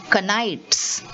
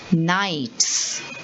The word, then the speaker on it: knights: but i'm not saying canites i'm saying knights and the second spelling is g-n-o-m-e-s but i'm saying gnomes i'm not saying gnomes why because the k and the g are both silent letters in the word now